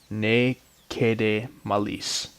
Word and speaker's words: Ne Cede Malis: and this is called naked a melis at least that's the Latin pronunciation since that seems to be a Latin phrase I don't yet know